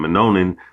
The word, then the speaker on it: Minoan: Some of the earliest depictions of dreadlocks date as far back as 3,600 years to the Minoan, all right, Slaki, I was pronouncing it wrong, Minoan civilization, okay?